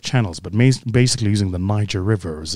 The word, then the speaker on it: Niger: all sorts of channels, but basically using the Niger River, as it's actually pronounced, the Niger River.